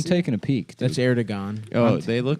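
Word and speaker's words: Erdoğan: That's how you pronounce it. How do you That's say his how- name? Erdogan.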